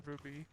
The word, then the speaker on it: RWBY: No, there's no us in RWBY. There's also no I in RWBY.